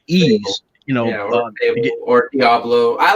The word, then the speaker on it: Ys: games like uh like like uh ease it's pronounced ease but it's actually y it possibly philosophy yes